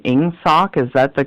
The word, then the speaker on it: Ingsoc: Forgive me for the pronunciation. Ingsoc, is that the correct pronunciation of that song?